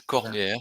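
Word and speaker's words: Cornière: is Corniere. You, It is you Corniere.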